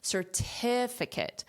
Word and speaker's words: certificate: the syllable stress certification but in this case it's this syllable that has the syllable stress certificate which is right here the Tiff is what you hear certificate certificate certification but